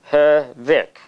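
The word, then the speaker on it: Hørvik: Actually, the O is got a little mark on it. Oh, okay. And then it becomes like Ur. Okay. Hervik.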